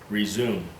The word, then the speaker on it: resume: But when it's the root of a word, not a prefix, but the root of a word that's 2 syllables, then you always want it long E, not re, resume. So you want it R long E, and then zoom.